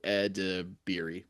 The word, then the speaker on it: Edebiri: Woody Harrelson, Kumail Nanjiani, so and Io Edebiri, or I always get her last name wrong. Io Edebiri.